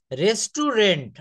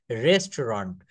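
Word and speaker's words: restaurant: রেস্টুরেন্ট আমরা বলি না প্রায় রেস্টুরেন্টে খেতে যাই। এটার রাইট প্রোনাউন্সিয়েশন হবে রেস্টরন্ড। রেস্টরন্ড।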